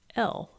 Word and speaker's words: gaol: book, because, they're British, they spell it Gaol. But in America, we spell it Jail.